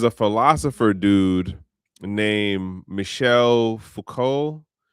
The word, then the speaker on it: Foucault: Then there's a philosopher dude named Michel Foucault, his name is French. It just the letters don't do anything for how it just is pronounced.